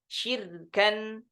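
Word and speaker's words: شركا: Jadi mengkasrahkan shin, ya, kemudian ra-nya disukunkan, ya. Kemudian kafnya jadi tanwin, jadi fathah tain, ya, sebagai pengganti hamzah. Jadi bacanya di riwayah Syu'bah syirkan, ya, syirka, syirka.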